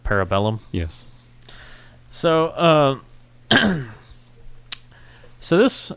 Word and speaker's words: Parabellum: people can say parabola Parabola yeah I've heard people pronounce it Parabola instead of Parabellum yes so um so